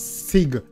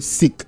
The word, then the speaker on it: Siq: the lab L of people pronounce it as Sig you see me but do sick you see me say